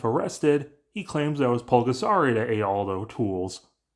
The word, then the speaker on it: Bulgasari: with a P for Pulgasari, but how they pronounce it for the film and its inspiration should be bulgasari with a B, which means the impossible